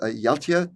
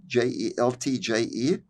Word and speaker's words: Jeltje: mother's name was Jeltje, Jeltje. The father's name was Berend or Berend, Berend. I'm pronouncing them the Dutch way, and there's a story